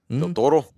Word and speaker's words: Del Toro: Del Toro?